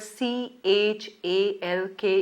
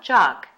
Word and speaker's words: chalk: noticed how the word c h al k is pronounced it's chalk and not chuck as some people mispronounce it now these items may